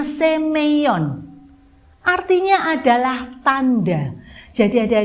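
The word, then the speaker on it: σημεῖον: Yunani ini mukjizat ini ada huruf Yunani yang dibacanya semeion artinya adalah tanda jadi ada deh mukjizat ini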